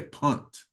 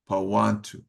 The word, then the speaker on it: Punt: pantu they you know people usually say punt but they the way that they say it is pantu and the batonga B